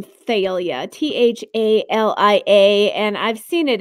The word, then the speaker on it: Thalia: It can be spelled Thalia, like I spelled it before, Thalia, or Thalia, like Princess Leia with Leia at the end of it.